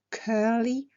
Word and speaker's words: curly: Et puis aussi on peut avoir donc une chevelure bouclée, frisée, dans ce cas-là ce serait curly, attention à la prononciation du U, curly ou frizzy pour friser.